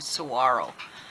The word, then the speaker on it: Saguaro: arms iconic cowboy cactus spelled like Saguaro but it's actually Saguaro one arm for one